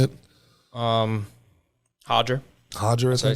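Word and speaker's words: Roger: Hodger. Hodger, I think. I say it. Why is the first R in Portuguese an H, but the second one's an R?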